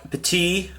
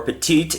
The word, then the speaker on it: petit: side here you've got spark peti uh 164 or petite if you want to pronounce it Americanized uh you got spark